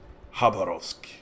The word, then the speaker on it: Khabarovsk: russian destroyer harborough's apparently according to one of my subs the K should be silenced so I'm hoping to God mukti isn't pulling my leg so apparently you should pronounce it harrah's which just sounds kinda badass so I initially wanted the